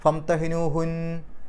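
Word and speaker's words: فامتحنوهن: നിർത്താതെ ഓതലാണ് കൂടുതൽ ഉത്തമം ഇനി അവിടെ നിർത്തുകയാണെങ്കിൽ ഫംതഹിനു ഹുന്ന എന്നുള്ളതിന്റെ ആ നൂനിന്റെ അവസാനത്തിൽ സുക്കൂൻ കൊടുക്കുമ്പോൾ ഫംതഹിനു ഹുൻ ഹുൻ എന്ന് വരുള്ളൂ ഹുന്ന് എന്ന് ശബ്ദോടുകൂടി അല്ല പറയുക ഹുൻ എന്നേ പറയുള്ളൂ അള്ളാഹു അലമു ഈമാനിഹിൻ അവിടെയും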